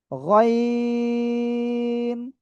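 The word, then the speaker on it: غين: গয়িন। তিন আলিফ টেনে উচ্চারণ করতে হবে।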